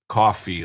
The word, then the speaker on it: Ko-Fi: Now, everybody's going to know the big story of the day is Ko-Fi is pronounced coffee like sci-fi.